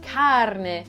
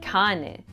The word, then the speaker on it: carne: Say carne, not cane. Carne, which means meat, rolls off the tongue with that distinctive R.